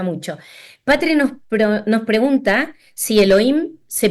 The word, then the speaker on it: Elohim: Patri nos pregunta si Elohim se pronuncia la H, entiendo Elohim, o no, o es indistinto. No, no se pronuncia la H, es Elohim, es como que la H casi no existe, Bien.